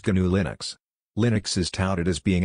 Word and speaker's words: GNU/Linux: also commonly known as gnu/linux pronounced G Linux Linux is touted as